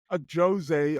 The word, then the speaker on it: Ajose: how you say it a Jose originated but but a lot of people say Jose so I I was trying not to be too American with the pronunciation you know what I